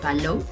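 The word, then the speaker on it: Palou: nada de pedro ángel para löw si se pronuncia para löw y pues es la historia de morelos también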